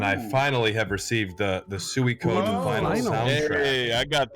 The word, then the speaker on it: Suikoden: It is pronounced Suikoden. I thought it was Swolkoden.